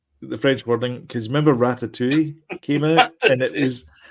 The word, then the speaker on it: Ratatouille: Every poster you see for Ratatouille is phonetically spells out rat-a-2-e. And because it says Ratatouille at the top in French, but it's got rat-a-2-e at the bottom there, so you could pronounce it.